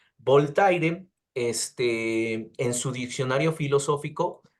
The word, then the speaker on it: Voltaire: crítico de la religión voltier o voltaire Perdón por la pronunciación voltaire este en su diccionario